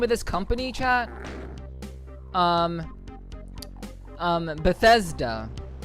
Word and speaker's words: Bethesda: Bethesda. I keep wanting to say Bethsaida for whatever reason.